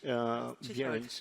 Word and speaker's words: Behrens: Slowly but surely, in Germany and Switzerland, some of these examples, like Peter Behrens or the, how do you pronounce? Behrens, sorry.